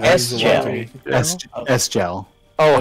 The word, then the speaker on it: Sgel: You're supposed to know to say the S.